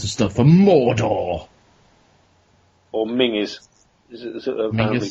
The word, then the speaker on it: Menzies: Or Mingus. Is it apparently pronounced? Yeah. It's like Ming Campbell, that guy.